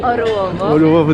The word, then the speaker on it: Orłowo: So we are in Orłowo. Orłowo. The pronunciation is right.